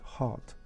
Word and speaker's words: hard: na przykład słowo tutaj Hard jeżeli to twarde r bardzo mocne akcentujesz Coach pokażę ci powiem ci że nie akcentuj r Powiedz Hot bardzo bardzo miękkie ryb